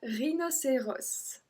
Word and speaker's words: rhinocéros: Numéro 17, un rhinocéros. Rhinocéros. Same thing, S again.